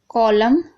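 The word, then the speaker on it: column: अब देखिए autumn, कॉलम, हिम, तो यहाँ पर देखिए एम एन से पहले एम है तो यहाँ पर एन साइलेंट है, यानी ना हम नहीं पढ़ रहे।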